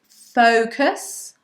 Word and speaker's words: focus: Right, guys, the next word, number 5, is focus. Focus, okay, as in pay attention. Focus on the lesson. Focus on us. Now, the sound at the beginning, the vowel sound is an O. O, like phone.